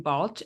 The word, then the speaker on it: Balch: Balch.